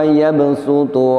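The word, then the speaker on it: يَبْسُطُ: Maka litakhfif, untuk meringankan agar lebih mudah dibaca, maka shadnya di sini diganti bunyinya dengan huruf sin. Perhatikan sekali lagi. Wallahu yaqbidu wa yabsutu wa ilaihi turja'un. Dengan digantinya shad dengan sin, maka pengucapannya menjadi lebih ringan dan lebih mudah.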